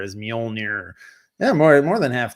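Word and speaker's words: Mjölnir: of it that it's it's m m which is spelled MJ L nir MJ o l n i r is mol yeah more more than half teams half the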